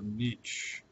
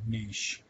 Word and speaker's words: niche: is the concept of the niche or niche and people pronounce it both ways and uh you hear one person say it one way and then another person say it the other way and they're both right so i usually say